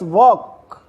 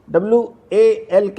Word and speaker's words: walk: Now it's walk. WALK. Walk. WALK. Walk. Walk means चलना, जाना, टहलना. वॉक. WALK. वॉक. वॉक. वॉक में चलना, जाना, टहलना. वॉक. WALK. L is silent.